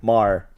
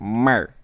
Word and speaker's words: Maher: Say it right? The Maher. Congratulations. The Maher. I've ruined his name multiple times. Mer. He's also an asshole, so I don't really give a fuck. Bill Mer. Bill Maher.